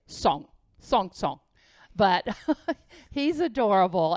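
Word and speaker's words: Cong: it's it's chinese c-o-n-g so it looks like kong but it's pronounced song as he would say song song song but he's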